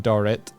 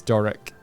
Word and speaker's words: Doric: I was saying Dorrit. It's Doric.